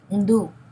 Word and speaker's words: hindú: El hindú, now remember, hindú. We don't pronounce the H, it's at the beginning of the word, so we ignore it, okay?